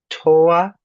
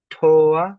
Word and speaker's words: toa: One above that with the o, toa, toa. Notice the o is accented.